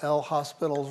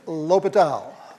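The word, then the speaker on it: L'Hôpital: You use that famous rule that we all mispronounce when we see it written, right? We use good old L hospital's rule. Okay, it's Latal Latal's rule.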